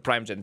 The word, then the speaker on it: Primeagen: The name is the Primogen. Thank you very much. Spelt with an A at the end.